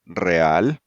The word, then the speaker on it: real: Then the letter E plus another strong vowel A or O does not form a diphthong and each letter is pronounced separately. Again, we have real, Real.